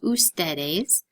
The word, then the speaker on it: ustedes: is not pronounced foods if you see UDS it is pronounced ustedes in the same way